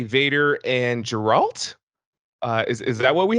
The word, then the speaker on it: Geralt: we say Vader and geralt uh is that what we have going on over there uh I know that your name is Gerald but I believe it's pronounced geralt the giraffe geralt after